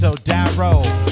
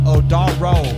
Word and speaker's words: Odaro: Pronounce the name. It's Odaro, not Odaro.